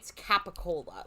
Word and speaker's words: capicola: Italian dialects where it's a pretty bastardized like Jersey like specific Italian pronunciation of stuff that is not at all spelled the way it's spelled, but it's capicola, like the deli meat capicola Okay, is yeah.